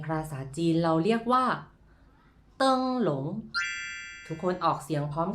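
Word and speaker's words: 灯笼: โคม ไฟ ใน ภาษา จีน เรา เรียก ว่า เติง หลง ทุก คน ออก เสียง พร้อม กัน ครับ เติง หลง แปล ว่า คม ไฟ หรือ ว่า คง ไฟ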